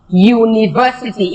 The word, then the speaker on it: university: for example a university university if you look at the word university it begins with a Y sound University and because it begins with the year sound you cannot say an